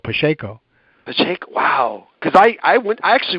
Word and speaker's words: Pacheco: See, I see Pacheco because I'm Portuguese, and that's how we pronounce it. But Pacheco.